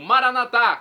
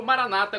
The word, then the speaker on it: Maranata: o dialeto de Jesus eu clamo maranat como dizemos nós católicos ou Maranata como dizem nossos irmãos separados os evangélicos ou protestantes não importa pronúncia significado é o mesmo